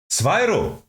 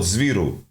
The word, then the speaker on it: Swyro: promoted to LEC, where Swyro. I've never heard someone say his name out loud. I thought Zviru. Like Zivu. Zviru. Swyro.